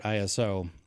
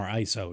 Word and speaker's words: ISO: I'm running this at 800 ISO or ISO, depending upon who you are and how you like to pronounce it.